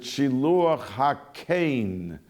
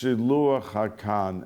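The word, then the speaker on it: שילוח הקן: Some pronounce it Shiluach HaKain, but commonly it's pronounced Shiluach HaKan.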